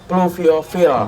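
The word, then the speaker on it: Pluviophile: t tadi bilangnya plofil pluviofil dia ada phi jadi bacanya F Oh plue Dou l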